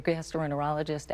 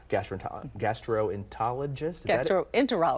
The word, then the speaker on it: gastroenterologist: And I need to call my general practitioner or my gastroenterologist. Enterologist. I know, your GI doctor. Missing a syllable there, sorry.